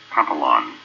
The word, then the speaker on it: papillon: Sometimes people will say, oh, a papillon, which again, another alternative way of pronouncing it.